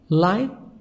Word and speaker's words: light: stable secure stable secure line gh silent light not heavy light not heavy aluminium aluminium